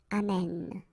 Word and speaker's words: amène: this little change, and it's only the accent here, accent grave, on the top of this okay? And then it will change, of course, the pronunciation, because you will have this sound open. Amen.